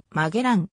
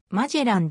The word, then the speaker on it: Magellan: 一般的である英語名フェルディナンドマゼランの発音はマゲランマジェランだが日本語では慣用的に混ぜラムと呼びのらはしているこれにならいこの